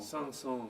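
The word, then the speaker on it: Saint-Saëns: That was the Swan, a classical piece of music by, how do you pronounce it? Sanson. Sanson. Sanson.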